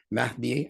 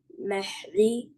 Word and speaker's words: Mahdi: Did you know that your name has this heavy ha in it? Mahdi. There you go. You just pronounced it correctly. Some people would just go Mahdi, right? It's not that they're wrong. It's just that it's not the exact correct pronunciation.